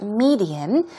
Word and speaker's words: median: And then median, here we go, stress goes on the first syllable, it's median, and we're talking about a certain means or a way of expressing your ideas, for example.